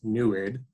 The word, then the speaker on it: NEID: the nid spectrometer spelled NE D but it's pronounced neid kind of weird but nid actually stands for